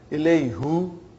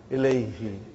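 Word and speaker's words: إليهِ: Ilayhu. It takes extra effort. And even also, it doesn't sound nice to the ear. So, who became? Now pronounce Ilayhi.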